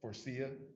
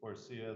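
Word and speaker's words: Faurecia: Forcia. Forcia, the It's- big manufacturer in Saline. How do you spell that?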